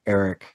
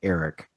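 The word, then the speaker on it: Arryk: on your bit that Eric and Eric are pronounced the same.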